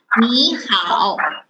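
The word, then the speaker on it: 你好: You have to change the first word 你 into second tone when you read. So the voice is 你好.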